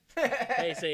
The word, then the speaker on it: Heisei: See, I'm already That's the mispronouncing. original era. That's the original. 1984 to 1995 is the Heisei era. Heisei? Heisei.